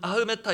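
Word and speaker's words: אַחְמְתָא: 원래 발음으로는 아흐메타 이렇게 읽는데요.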